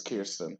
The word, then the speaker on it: Kirsten: I think it's Kirsten. I gotta fact check. I just don't want to get her name wrong. Honestly. We can call her K. Okay. Definitely K. Definitely okay. Okay. Yeah, you're right. It's Kirsten.